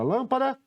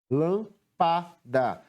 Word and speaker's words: lâmpada: prometi com mais intensidade então o lan é a antepenúltima sílaba que eu pronunciei com mais intensidade retornando aqui para finalizarmos